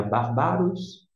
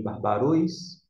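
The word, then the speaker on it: βάρβαρος: está aqui no bar não é barbaros nem bárbaros e sim bárbaros por conta desta indicação no sinalzinho Digo o acento mas sempre sinalizar para a sílaba tônica dentro do grego Ruy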